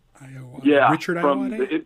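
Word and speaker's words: Ayoade: I can never pronounce Iowade? It's Iowade.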